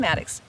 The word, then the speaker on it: Mattox: And Well, we're so excited because Wendy Ann Mattox, I keep saying her full name so that you'll find her when you're looking for her. But 2 Wendy, T's, Wendy, Mattox.